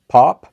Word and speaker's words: Pope: With me is my sister Pope. It's Pop. How do we pronounce it? It's Pop.